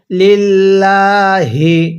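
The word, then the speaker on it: لله: হবে ওয়াজ হাহু এরপরে লিল্লাহি তাহলে বালাম আসলামা ওয়াজহা লিল্লাহি দেখুন এই লামটা কিন্তু আল্লাহ দেখুন এই লামটা কিন্তু চিকন করে পড়তে হবে লিল্লাহ এখানে লিল্লাহ পড়লে পড়াটা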